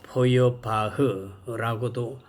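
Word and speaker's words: Feuerbach: 포엘바하 어 포여바흐라고도 어 발음하는데 포엘바하라고 발음하겠습니다.이 이 사람은요.에 우리 그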